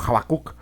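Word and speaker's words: חבקוק: Pero bueno, el nombre de Habacuc en hebreo se pronuncia como Habacuc.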